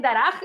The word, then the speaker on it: Darach: Like, if I say Darach, the name of the character is Darach.